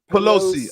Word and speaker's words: Pelosi: How do you How do you properly pronunciate her name? Pelosi.